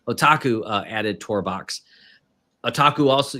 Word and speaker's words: otaku: uh what's it oku how do you say that okuu it's the anime yeah oh I wouldn't add on it added otaku there we go I knew I wasn't saying it right otaku added tour box aaku